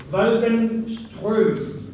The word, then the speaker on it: Waldenström: Esa se dice Waldenström.